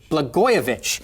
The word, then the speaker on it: Blagojevich: And former Illinois Governor Rod Blagojevich, how is his name pronounced, Kyle? Blagojevich.